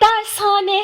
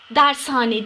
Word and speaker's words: dershane: yazımı ayrı olacak evet Dersane hep yine ağız alışkanlığı Evet belki söylerken Hani Dershane demiyoruz ama doğrusu sevgili çocuklar Dershane değil Dershane Tamam doğrusu bu şekilde olacak Dershane değil Dershane Evet